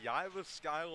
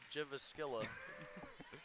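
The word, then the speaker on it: Jyväskylä: yes she is and she's from yiva style of Finland so that's a tongue twister yes it is so that's how you pronounce that yes yeah I would have said uh jivas Killa that's what happens when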